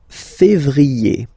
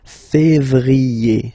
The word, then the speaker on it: février: yé, janvier, then comes février, février, okay, remember when you have this accent aigu on the top of then you pronounce it E, okay?